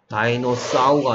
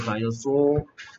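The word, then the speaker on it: dinosaur: 다이노사우가 아니고 다이노소어. 다이너소어.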